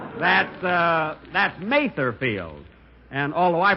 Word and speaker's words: Mather Field: here it is Mother's Day and we're at mother Fields that's uh that's Mather field and although I pronounced it wrong last week I and speaking